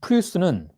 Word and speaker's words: plus: 자, 그런데 프랑스어에서 이 플루스는 플루라고도 발음이 돼요. S가 발음이 안 될 수도 있어요.